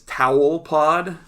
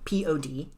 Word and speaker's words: Tawelpod: on every platform as Tawelpod. TAWELPOD. That's Tawelpod. Sounds like towel. It sounds like spelled towel. like towel. Is spelled with an A.